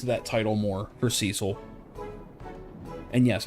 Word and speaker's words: Cecil: that title more for Cecil and yes I call him Cecil not Cil because we have a Cecil County out here and that's how the we pronounce it he he dragon born